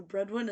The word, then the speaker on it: Bredwin: So Bredwin is spelled like the word bread and then the word win.